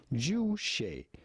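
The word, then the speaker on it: 주체: self-reliance is essential about pronouncing it. Simply Juche.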